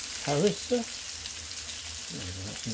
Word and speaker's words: harissa: I'm going to pop on a bit more seasoning of Parisha. I think it's called pronounced like that, I'm not too sure. It's pronounced Harissa.